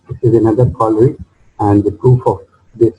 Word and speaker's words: corollary: So by combining these two, we will get this corollary, and corollary, that is basically corollary. I was pronouncing it incorrectly.